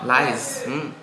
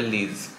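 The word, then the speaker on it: lies: হবে Vedic art 99 এভরিওয়ান লিস লাইস নয় লাইস everyone লাইস এই দেখো এটা এটা যদি শুধু পড়ে যারা হয়তো উচ্চারণ চায় না প্রথমবার ওয়ার্ডটা দেখছে এখানে বলবে লিজ কিন্তু সেই জন্য উচ্চারণটা জানা উচিত।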